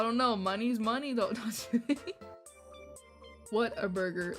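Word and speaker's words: Whataburger: it what what Burger cuz they said it sounds like what a burger like like what and then a burger but like pronounced like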